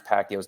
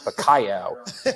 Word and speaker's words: Pacquiao: and lample and Merchant couldn't even pronounce Pacquiao's name they were calling him payo you know he was